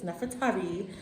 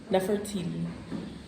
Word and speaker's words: Nefertari: we say it correctly it's nefertavi not enough for treaty Nefertiti like Americans say it's the wrong way to say it inside her tomb